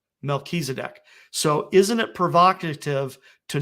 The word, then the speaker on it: Melchizedek: And this final little point here, with Jupiter being called Tzedek and Regulus being called Melech, if you put the two of them together, that would be pronounced Melchizedek. Melchizedek.